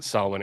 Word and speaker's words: Samhain: I don't know why it's pronounced Solomon, except that's just that's how it's pronounced or something.